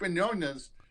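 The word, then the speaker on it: Mignogna: lose your mind take a look at Vic Manz is that the right way to pronounce it that's right yeah Vic Manz Star Trek Continues and you watch those you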